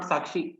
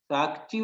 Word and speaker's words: Sakchi: So that is Sakchi, not Sakshi.